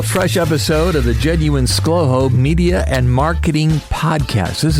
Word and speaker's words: ScLoHo: o h o, but it's easier to pronounce just as two syllables, and that's how you get Schlowho.